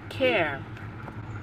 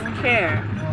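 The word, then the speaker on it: kerr: actually found out that the correct way to say it is care k-e-r-r not care but care k-e-r-r secure b i'm still learning guys care is k-a-r-r but i hear care so care can mean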